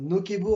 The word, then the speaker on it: Nocebo: je me suis renseigné il y a les deux façons nokebo en fait c'est la façon en latin de pouvoir le dire mais en français on peut dire ne c'estbo et donc